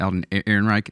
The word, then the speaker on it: Alden Ehrenreich: Alden Ehrenreich?